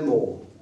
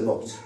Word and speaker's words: morte: I said, "Well, actually, because it's feminine, you have to say, you have to pronounce the T. So, it's La France est morte."